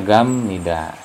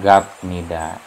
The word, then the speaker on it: 갑니다: kemudian ini gamly daya ini bacanya gamnida tidak gabmida Padahal kalau kalau seperti